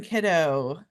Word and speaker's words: Kiddo: And also President Simone Kiddo. I think I pronounced that correctly. Kiddo, like kid Kiddo, and morning dew.